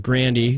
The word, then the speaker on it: Grande: all together yeah ariana grande got four she's very pretty swifty got fifth I'll take that man I feel weird saying that ariana grande or Ariana grandi which is how she pronounces it um a few weird